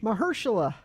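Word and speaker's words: Mahershala: Mahersula. Mahersula. Mahhersa. Mahersula. That's the first time I've heard of that. Everybody's been pronouncing it wrong.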